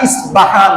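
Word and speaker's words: اصفهان: সেই জায়গার নাম হচ্ছে ইস্পাহান। আরবিতে প হয় না, ইসবাহান বা উচ্চারণ করা হয়।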